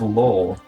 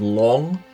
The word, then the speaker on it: Long: uh the custodians of law or maybe dragon knights? Slight slight pronunciation probably coming over. So it's the custodians of long as in Chinese for dragon.